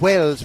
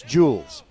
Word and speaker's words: Jules: Okay, so it's not Wells Martinez, although I like to pronounce Latino names precisely, but it's Jules. All right.